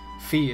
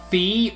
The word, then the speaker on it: Fi: I cannot ever remember if her name is Fee or Fi. I'm gonna go with Fee because I think it sounds better. And that's also based on my knowledge of how the Japanese language works.